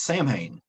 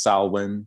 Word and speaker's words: Samhain: pronounce it but it's samhain um did i say that right man uh i mean you know you said the american version or the yeah angelicized version yeah the celtics pronunciation is salwin goddess god that's nerdy